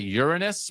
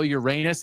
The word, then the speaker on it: Uranus: I'm looking it up on Wikipedia and the scientists prefer the Uranus pronunciation, although Uranus is also acceptable.